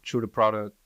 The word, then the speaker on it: Tru Da Produk: on um social media true the product as TR Ru d a p r o d u k it's spelled a little different so it looks like product but uh that's how